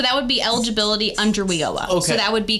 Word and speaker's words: WIOA: We call it WIOA, so it's Workforce Innovation Opportunity That's okay, Act.